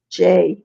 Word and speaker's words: Jai: Well, the first drummer's name was, they pronounced it different now, but his name was Jai. Jay.